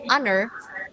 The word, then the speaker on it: honor: Jadi, name in his honor. Cara bacanya honor ya, bukan honor.